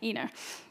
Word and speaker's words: Ina: And I feel like in this book, Ina, would you pronounce it Ina? I would. Ina.